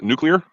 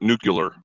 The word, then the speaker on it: nuclear: But you pronounced it correctly the first time. Sorry, you mispronounced it the second time. It's nuclear, not nuclear.